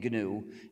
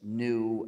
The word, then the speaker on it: GNU: print pronounce the name gnu and avoid the various erroneous pronunciations such as new and linux when people